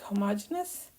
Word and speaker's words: homogeneous: So this is a word which can be pronounced in different ways, but I think the correct pronunciation is something like homogeneous.